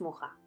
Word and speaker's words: Mucha: modernista Tenemos que hablar de alfons mucha O có estaría mejor pronunciado alfons muja fue el máximo exponente